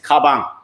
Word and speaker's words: 가방: Apparently, it's pronounced the same and has the same meaning. Oh, yeah. Correct. Which is 가방.